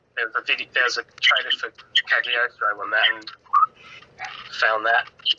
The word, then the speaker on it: Cagliostro: Yeah, I haven't seen like a ton of it, but I've seen like parts of the Castle of Castigliagro, I think is how you say it. Cagliostro.